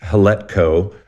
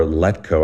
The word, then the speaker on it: Hletko: So yes, Paul, I don't know if, you can either pronounce his name with the H, Hletko, or Letko. I don't know if the H is silent. It's a but silent yeah, H, Paul, in 2011, started